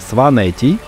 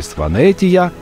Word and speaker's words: Сванети: Грузины говорят «Сванети», «Тушети» и «Кахети». Они как за пределами страны называют туристы «Сванетия», «Тушетия» и «Кахетия», добавляя в конце «я».